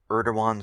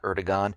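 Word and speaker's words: Erdoğan: name wrong it's not Eragon it's Eran and I thank you uh to one of the listeners that helped me with this the g is silent and I will now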